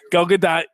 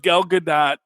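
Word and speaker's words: Gadot: do Gad do it's you do pronounce the t gadat is you can look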